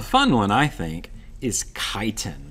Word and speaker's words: chitin: one i think is chitin that's pronounced chitin and we see this